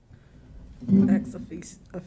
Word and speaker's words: ex officio: and activities of the city and to be ex officio, is that how you say it? Ex officio.